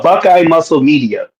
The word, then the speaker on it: Buckeye Muscle Media: Do you want to pronounce the name of your company? Uh Buckeye Muscle Media.